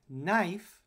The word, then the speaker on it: knife: by the english spelling in english there's a silent k at the beginning of the word knife because we don't pronounce it we're going to ignore it and knife has na as the